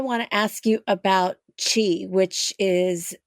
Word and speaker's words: qi: find in English and I pronounced it Kei but it's not Kei it's Chi uh the word chiong